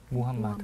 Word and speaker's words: 무함마드: 사람이에요 원래 아랍 사람이잖아요 아랍의 제 발음은 무함마드 무함마드 무 요즘 사진 다